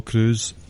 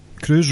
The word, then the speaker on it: Crews: The answer was Apollo Crews. Crews rhymes with Drew. So that's worth a point. Yep. I said Crews, it was just bad a mark pick up.